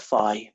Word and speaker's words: phi: find fee right well trust American to call it that I call it Phi but I'm still going to call it fine you can still call it fee he for fun that's